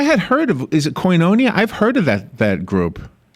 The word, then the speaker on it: Koinonia: Is it Koinonia? I've heard of that group. Koinonia is Koinonia is how it's pronounced, and it's a Greek word that means